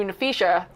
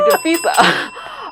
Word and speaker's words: Nafisa: And she's like, your daddy didn't name you Nafisha. He named you Nafisa.